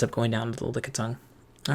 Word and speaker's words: Lickitung: Dang it, it sounds like I'm pronouncing it weird because I'm trying to say Licky Lick, but it's Lickitung.